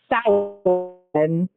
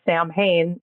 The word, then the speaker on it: Samhain: This Sam for Samhain, which looks like Sam Hain, which is All Hallows Eve, which is Halloween.